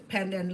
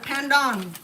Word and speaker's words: pandan: And it's not panda. Pandon. Okay. Pandon.